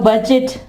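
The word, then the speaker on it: budget: और इसके अलावा बजट, बजट, ठीक है, बजट। यहां पे देख लें DGE आया, लेकिन डी यहां पे साइलेंट होगा, बजट।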